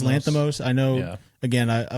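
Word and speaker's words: Lanthimos: I think it's Lanthamos. I know. Again, I I listened to Stav say it and he says it the Greek American way where like he has the accents in the right place.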